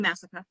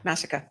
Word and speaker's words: Massica: It's Massaca. I've said your name wrong. I'm so sorry. Massica.